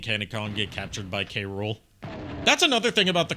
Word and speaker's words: K. Rool: Like, they tried to pronounce it as one word. Which, yeah, that is the pun of his name. K. Rool. Cruel. But they did K. Rool.